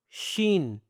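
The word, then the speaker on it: شين: So, here we have seen, s double e n. Seen. Okay? And then we have sheen, s h double e n. Okay? Seen. And then, sheen. They have different voices, okay?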